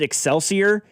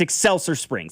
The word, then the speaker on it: Excelsior Springs: Somebody in the text line said, finally, someone pronounces the town without the emphasis on the IOR.